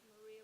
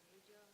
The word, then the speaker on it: Marija: It's Maria with a J, I say, but they say if you're Marija. So we have Maria, whose name is not Marija, right?